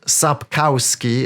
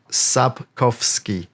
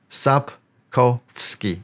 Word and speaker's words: Sapkowski: vak vak Okay next one Andre again not sapkowski at as many Americans say as you can see it's a very